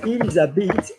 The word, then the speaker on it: ils habitent: You don't normally sound the L unless the following word begins with a vowel or a vowel sound.